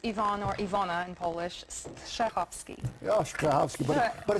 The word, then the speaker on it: Strahovski: you need it does i always say it's like sneezing so you have to kind of get the first syllable like clean your throat and the rest is easy welcome back june is